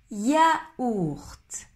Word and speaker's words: yaourt: Yaourt, yaourt, yaourt. Tu dois séparer le premier son ya et le deuxième ourt. Yaourt, yaourt, yaourt. Répète après moi. Yaourt. Est-ce que tu veux un yaourt?